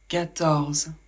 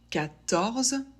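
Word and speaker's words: quatorze: de la même manière 14 la lettre Q en français fait le son que elle est toujours ou presque suivie par un U il y a quelques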